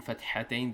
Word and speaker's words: fathatain: In fathatain there is a ha, so they have to pronounce it correctly. It's ideally to teach them in a correct way.